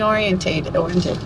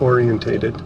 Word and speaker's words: oriented: It's very family oriented. Not orientated. Tony Tao likes to add extra syllables.